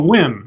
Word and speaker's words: Nguyen: Oh, Wynn.